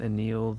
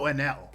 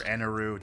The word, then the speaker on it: Enel: Anil, the lightning god? Oh, Enel. Oh, Enel, Enel, yeah. Yeah. Yeah, he sneezed. Or Enaru, depending on your pronunciation.